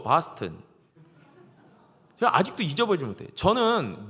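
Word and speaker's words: Boston: 미국 동부는 아 발음이 강하기 때문에 보스턴 하면 안 되고 바스턴.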